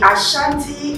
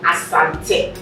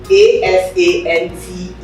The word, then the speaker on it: Asante: is that is right so the ashanti is is a mispronunciation by the english by the british of assante a-s-a-n-t-e when you ask any